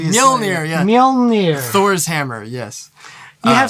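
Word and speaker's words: Mjölnir: Mjolnir. Thor's hammer, yes. You have some difficult things to pronounce.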